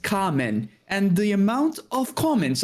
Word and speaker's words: Kamen: In fact, in one of mine, I mispronounced the name. I said Cayman Riders, and everyone's like, it's pronounced Kamen.